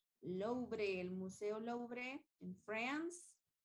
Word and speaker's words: Louvre: The Louvre, la R está pronunciada fuerte porque no está en inglés, sino que está en francés. Louvre, el Museo Louvre en France.